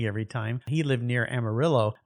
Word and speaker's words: Amarillo: time he lived near Amarillo where they did pronounce the two L's even though that's a Spanish name for I think yellow Amarillo